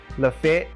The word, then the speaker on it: Lafayette: pronounce it lafayette but we know you're from alabama if you pronounce it la fete i think our population